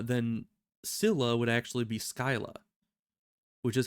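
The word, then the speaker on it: Scylla: from sources uh then Sila would actually be Skyla which is how we used to pronounce it back when I was a kid but when I started playing this game I was hearing it saying Sila a lot so I just kind of went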